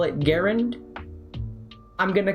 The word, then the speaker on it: Garand: Broken sights on your Garand. I call it Garand. Some people call it Garand.